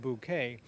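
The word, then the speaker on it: Bucket: in the english comedy it's b u c k e t pronounced bouquet in the formal word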